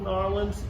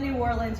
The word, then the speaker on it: New Orleans: You said it right the first time. Damn it. You said New Orleans, you nailed it.